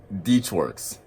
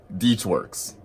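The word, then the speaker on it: DeatschWerks: EFI billet fuel rail Deutsch works deep swartz it's pronounced deeps works projector I should get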